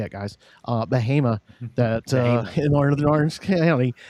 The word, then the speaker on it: Bahama: Bahama, that in northern Orange County, that it's, there's some ice up that way pretty hard right now, or a little earlier.